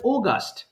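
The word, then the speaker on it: August: জুলাই এই গেল জুলাই এরপর কি আগস্ট বলি তাই না কিন্তু এটা কিন্তু বিদেশীরা আগস্ট বলে না এটাকে বলে ওগাস্ট দেখ ভালো করে এটাকে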